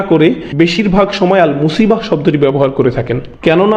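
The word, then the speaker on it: مصيبة: এরপর আবার শব্দটি শেষে রয়েছে তা মারবুতা, যে জন্য আমরা মুসিবাহ উচ্চারণ করি, মুসিব না কিন্তু।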